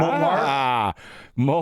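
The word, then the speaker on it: Montmartre: Montmar.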